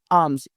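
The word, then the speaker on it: alms: मल भीख मांगना सीकिंग आम्स एल यहां पर साइलेंट रहेगा इसको आम्स पढ़ेंगे तो सीकिंग आम्स यानी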